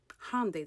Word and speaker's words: Hyundai: Hyundai, that's how you pronounce it, by the way.